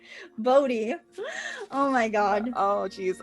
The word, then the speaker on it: Bodie: He was the principal property owner in Boney. Bodhi. What did I say? Boney? See, I'm even getting the town name wrong. Bodie.